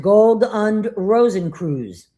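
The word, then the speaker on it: Gold- und Rosenkreuz: The order of the golden and rosy cross uh pronounced gold uned Rosen Cruz.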